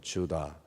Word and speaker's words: 유다: 유다, 영어 발음으로는 주다.